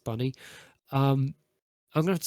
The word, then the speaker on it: Bynni: I'm probably gonna have to say Bunny, but it's spelt with like a BYNNI. So like Binny, but it's pronounced Bunny.